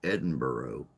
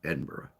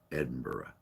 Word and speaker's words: Edinburgh: he kept pronouncing it Edinburgh, and I'm like, dude, Edinburgh, Edinburgh, Edinburgh, Edinburgh. Come on, say it right, Burra, Burra.